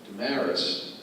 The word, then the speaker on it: DeSmarais: If you look at the spelling of my name, it's DeSMarais, and it sounds, DeSamaris, sounds, what nationality?